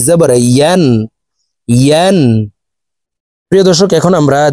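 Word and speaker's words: ي: আমরা অনেকে ইয়া হরফের উচ্চারণ হামজার উচ্চারণ করে থাকি, ইয়া আলিফ ২ জবর আন পড়ে থাকি। প্রিয় দর্শক, ইয়ার উচ্চারণ জিহ্বার মধ্যখান থেকে হবে, এভাবে পড়তে হবে।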